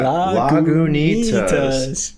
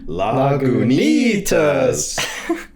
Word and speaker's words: Lagunitas: Lagunitas. I love how it's knee, like the part of you your have body. to emphasize the knee. Lagunitas. Say it again. Lagunitas.